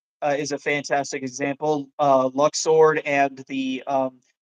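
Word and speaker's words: Luxord: uh Lux sword and the um I know it's supposedly pronounced Luke sword. I don't care. It's Lux sword.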